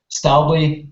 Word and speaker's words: Stäubli: um well to introduce me I am style boy let's make it this way um from in form of pronunciation uh I'm a Swiss guy so uh